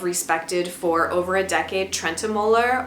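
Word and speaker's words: Trentemøller: for over a decade trenter or as we were like trying to pronounce it correctly I think it's Trent Mula I thought he was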